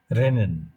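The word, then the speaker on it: rennen: এরটা আমাদের ওই র দিয়ে যে সাউন্ড আমরা মিন করি ঠিক ওই রকম। যেমন একটা শব্দ লিখি আমি, রেনেন। এর এতে হলো রে, তারপরে এনএন এন নেন, রেনেন রেনেন।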